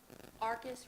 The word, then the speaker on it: Arcus: How do you pronounce that? Arcus Restoration, Yes.